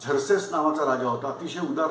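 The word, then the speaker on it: Xerxes: नाव दिल्यानंतर लक्षात येईल हे इंग्लिश मध्ये झर्सेस लिहितात एक्स पासून स्पेलिंग चालू करतात झर्सेस नावाचा राजा होता अतिशय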